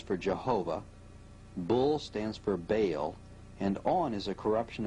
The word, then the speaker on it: Baal: The word is probably the contracted form of some other Hebrew word, commonly pronounced Baal and spelled B-A-A-L, and he was worshipped by the Babylonians as their chief deity.